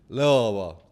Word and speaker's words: Louisville: So it's like it'd be Louisville. That's how I said. Pronounce it like Louisville, but like Louisville.